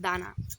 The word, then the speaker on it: Dana: In Romanian, the name is pronounced Dana.